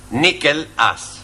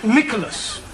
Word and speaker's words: Nicholas: upon a time there was a man called nickel us right now once upon a time there was a woman called nickel and it's pronounced Nicholas all right once upon a time there was